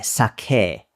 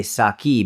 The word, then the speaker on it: sake: So in Japan, they would say sake, but we say saki because that's just how we've adapted it to the English pronunciation, the English, like the,